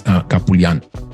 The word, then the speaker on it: Kapoulian: And I think it's Kapoulian.